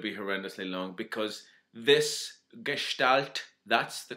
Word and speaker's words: gestalt: Now, it's not going to be horrendously long because this gestalt, that's the correct way to pronounce it.